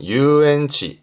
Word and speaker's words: 遊園地: 유원지 발음은 유엔치.